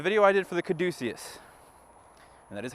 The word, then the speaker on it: caduceus: the division the video I did for the caduceus and that is how you say it by